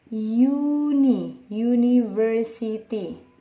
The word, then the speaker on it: university: Kalau yang ini dari hurufnya vowel tapi dibunyikan dia konsonan, syllable-nya disilabelkan dia konsonan, seperti university. Oke, ini dibaca university ya, ini dibaca uni. U ini dibaca u, karena dibaca huruf y ya, termasuk huruf y adalah huruf konsonan ya, maka dia kalau dia